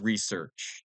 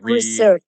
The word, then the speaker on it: research: have in Portuguese and R is always pronounced like research like research research research that was has showing and words.